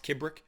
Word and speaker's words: Kibrick: enough to be joined alex if i've been pronouncing your last name correctly alex kubrick that's correct perfect alex uh you have been